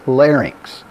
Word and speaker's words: larynx: model right here and remember we say larynx it shows me the